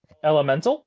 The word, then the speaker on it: Elemental: Elemental. Mhm. Ella and then mental. Well, her Well, it's it's Ella like E L L in the space mental.